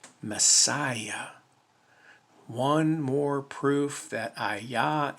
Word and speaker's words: messiah: of ayah it's not mess yahoo it's not mess yahoo it's not mess yahweh it's mess messiah one more proof that